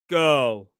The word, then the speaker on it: girl: The dark L, the back of the tongue rises. Girl. Girl. Girl. It shouldn't release at the end. It should be further back in your mouth.